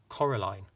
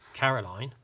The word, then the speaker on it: Coraline: name wrong you know they kept saying Coraline not Caroline not Caroline at all he picked up a